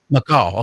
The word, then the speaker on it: macaw: Macaw, is that how you pronounce it? G23? Macaw.